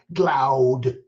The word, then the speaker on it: Glaude: His name is Eddie Glaude, Glaude, pronounced Glaude.